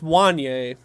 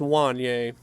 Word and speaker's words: Wanya: game Wanya Morris want I think it's Wanye don't don't cancel me for that but I'm pretty sure on the pronunciation thing on Oklahoma's thing it's one yay but I'm excited that